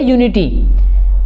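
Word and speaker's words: unity: प्रयोग करा, क्यों करा, क्योंकि जब हम इसका प्रोनाउंसिएशन करते हैं तो इसमें कहीं पर भी वी की आवाज, सॉरी यू की आवाज, वी की आवाज नहीं आती, ठीक है। तो यह की आवाज आती है यूनिटी, ठीक है।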